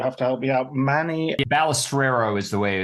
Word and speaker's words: Balestrero: Manny Balestrero is the way it's pronounced. Balestrero. Yeah. Okay, I should get that right because it's an Italian name.